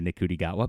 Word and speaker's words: Ncuti Gatwa: know it grates some people that I say nikudi gota but but that's how you spell it.